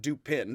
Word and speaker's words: Dupin: so do pin and i'm gonna pronounce it do pin because i think poe thought that most of his audience would pronounce it that way and not no and i didn't really uh if it's dupa dupong it's apparently dupa and like duper or a dupa like duper without an n or an r on